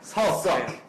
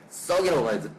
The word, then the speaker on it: 석: season 아 발음을 발음석 석 석이야 석 아 외국인들은 석이라고 할 때 이제 썩이라고 알아들을 거예요. 그래서 미스터 썩 썩은 그렇잖아.이 방송이 아니야.